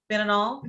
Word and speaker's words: fentanyl: Fentanyl, is that how you pronounce it?